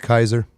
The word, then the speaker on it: Caesar: that L that's from Caesar was pronounced Kaiser and is it Julius